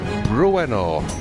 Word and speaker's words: Bruenor: I can increase Brenor a little bit more. Bruenor, that's how you say it.